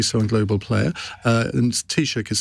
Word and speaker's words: Taoiseach: And Taoiseach is spelled T-A-O-I-S-E-A-C-H.